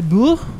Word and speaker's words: Shia LaBeouf: actor director writer Shia LeBoeuf I believe is how you pronounce it in the French and the French Way I believe it's more of an accent on the F so Lib la la